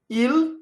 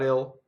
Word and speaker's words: il: Il, I-L, I always makes an E sound. Il. It doesn't make ill, right? It's not ill, it's il.